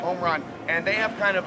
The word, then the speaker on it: Omron: Omron.